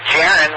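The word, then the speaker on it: Jaron: and call sign again absolutely my name is jiren which is spelled Juliet Alpha Romeo Oscar November and my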